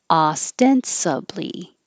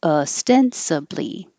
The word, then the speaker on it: ostensibly: position traumatic this one there's two because you have the option of saying ah for the o or uh because it's not stressed so ostensibly or ostensibly oh I didn't say